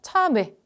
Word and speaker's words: 참외: 선생님 지금 어떻게 발음했냐면 참외, 그치? 어떻게? 입술이 안 바뀐 채로 발음을 했어요.